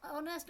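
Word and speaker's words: honest: उसके बाद है ऑनेस्ट है, और ऑनेस्ट में यहाँ पे क्यों पढ़ा, इसके एच जो है वो साइलेंट है, इसको ओ से प्रोनाउंस किया जाता है।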